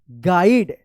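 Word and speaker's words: guide: I also gov हिम a small गाइड जी यू आई डी ई गाइड पढ़ेंगे यहां पे you silent रहेगा book and अ पढ़िए इसको क्या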